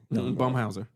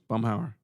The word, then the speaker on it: Bumhauer: Clarissa. Bumhauser. Bumhauer. Is the same person? That's Bumhauer, yeah.